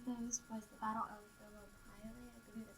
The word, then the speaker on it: Thermopylae: Okay, so, there's some key events, and one of those was the Battle of Thermopylae, I believe that's how you pronounce it.